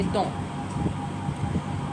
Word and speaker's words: dont: Again, we are not going to pronounce the T at the end. We would just say dont.